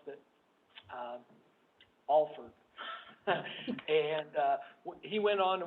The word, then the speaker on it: Alford: name was spelled the same way, and he pronounced it, Alford.